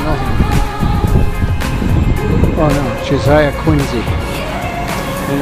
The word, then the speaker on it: Quincy: Oh no, Josiah Quincy. And it's Quincy, not Quincy. That's how locals say it.